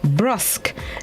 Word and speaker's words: brusque: Brusque. It's spelled B-R-U-S-Q-U-E, brusque, an adjective which means markedly